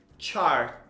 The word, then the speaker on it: chart: puxar esse TH, birth, e o chart, você não pronuncia o T, ou você pronuncia muito levezinho, bem de leve. O importante é que é o CH, que é o char.